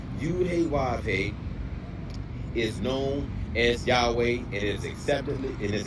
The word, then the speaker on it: Yahweh: Yahwa.